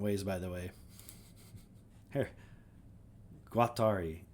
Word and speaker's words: Guattari: of French philosophers Doo and I've heard it pronounced like multiple different ways. By the way, here. Guatari. Guatari. Oh, that's how I was saying it. I heard someone else say Guadi and I was like, "Oh, maybe I'm saying it wrong."